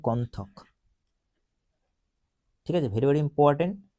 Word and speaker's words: কন্থক: দেখো লেখা আছে চান্না বা কত্থক, দেখো চান্না বা কত্থক, ঠিক আছে। কন্থক আর কি, উচ্চারণটা হয় কন্থক, ঠিক আছে।